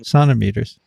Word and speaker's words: centimeter: and it is just a highfalutin way of pronouncing centimeter. Indeed. That's what they do in Canada, sonometers.